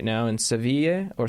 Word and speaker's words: Sevilla: Him and his family are in Spain right now, in Sevilla or Seville. I'm not sure how you would pronounce it. Sevilla. Sevilla, with an A? Sevilla. Okay. The double L is Sevilla.